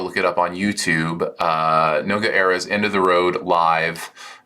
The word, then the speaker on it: Noga Erez: But the artist, I believe their name is pronounced Noga Erez. I could be wrong.